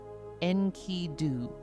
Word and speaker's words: Enkidu: And you would say it like this, Enkidu.